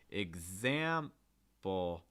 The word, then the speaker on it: example: instance the first word example example so it's not example it's example or for instance the last